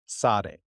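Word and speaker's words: צדי: last part of that's that's what this is Sade Sade sorry not really you just do I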